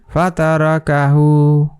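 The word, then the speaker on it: فتركه: এটা কাফ এটা হা এটার উচ্চারণ কিভাবে হবে ফাতারকাহু ফাতারকাহু ফাতারকাহু ঠিক আছে এভাবে এটার উচ্চারণ করতে হবে তাহলে আমরা কি শিখলাম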